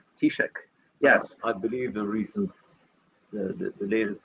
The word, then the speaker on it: Taoiseach: I can spell the title, I can't pronounce it, so I'll let Martin pronounce it. Taoiseach. Taoiseach, yes.